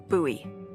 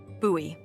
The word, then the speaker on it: Bowie: out this huge Rusty Bowie knife hi Josiah welcome to the stream I'm doing good it's actually pronounced buoy what no it's like the last name like David Bowie different last name buoy are you just messing